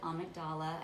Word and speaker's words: amygdala: Some people pronounce it amygdala. I think it's more commonly called the amygdala.